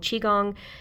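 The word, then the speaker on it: Qigong: Uh there are videos for all of this stuff, including um some ones I've been looking into recently called Chiong. Uh it's spelled Q I G O N G.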